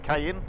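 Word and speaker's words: Caín: Uh one of the places we'll be staying is a place called Cayen or Kane Develion. Cayenne it's supposed to be pronounced.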